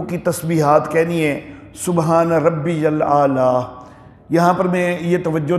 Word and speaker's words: ربی الاعلیٰ: الاعلیٰ یہ یا ہے، ربی کے بعد یا ہے، تو اس کو یا کی بجائے حمزہ کا تلفظ کر دیتے ہیں، یوں بولتے ہیں سبحان ربی الاعلیٰ، ربی الاعلیٰ۔ یہ ربی الاعلیٰ نہیں ہے، سبحان ربی الاعلیٰ، تو یہ تلفظ جو ہے وہ صحیح ہونا چاہیے۔ اور رکوع میں تو